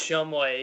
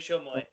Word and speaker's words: Shumway: I've got Shumway. Is that how do you pronounce your name? It's Shumway, yes sir, Shumway.